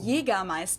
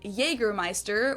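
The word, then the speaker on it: Jägermeister: from shoes to alcohol this is pronounced yiga ma in German English speakers usually say Jer Meister which is pretty much the same just with a pretty thick accent and people also often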